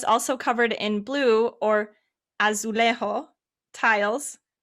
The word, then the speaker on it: azulejo: covered in blue or azulejo tiles it's you say as lazy can you say what yes yes excellent i i always forget that in uh portuguese the j is actually pronounced instead of silence yes so and like